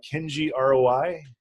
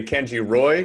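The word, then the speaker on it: Kenji ROI: lot of people say can't you Roy but it is in fact ROI standing for a return on investment yes that's that's what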